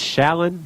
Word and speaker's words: Shallon: can't pronounce her name it's shallon like sharing with an L it's not that hard